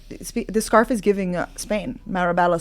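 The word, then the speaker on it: Marbella: Marabella, Spain. Is that how you say it? Marba.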